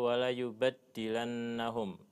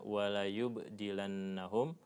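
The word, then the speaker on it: وَلَيُبَدِّلَنَّهُمْ: Ada bacanya wala yubdilannahum. Ada yang bacanya watasdidi wala yubaddilannahum. Kalau yang dipilih oleh mualif di sini bitakfif ya dengan meringankan bacaan sehingga bacanya wala yubdilannahum bukan wala yubaddilannahum tapi di mushaf kita ya ee itu menggunakan tasdid ya wala yubaddilannahum ini dua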